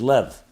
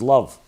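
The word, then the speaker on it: לב: called the from the 32 in Hebrew is lev means heart it also can be pronounced as love and indeed it's a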